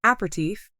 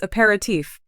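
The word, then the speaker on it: aperitif: today for what is an apertif three syllables when the correct word is aatif four syllables another person agreed saying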